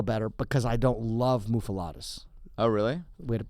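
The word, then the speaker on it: muffuletta: I like a Montreal bagel better because I don't love muffalettas. Oh, really? Way to mispronounce it.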